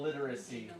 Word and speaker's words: literacy: literacy yeah it's got It's got two L's right next to each other that's it is tricky digital literacy yeah I think main thing um sometimes I heard it with two syllables but it's like it would be three digital literacy yeah Etc